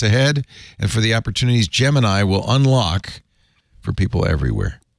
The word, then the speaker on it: Gemini: what everybody does here's is it gemini or G Gemini according to Wikipedia it's Gemini it comes from the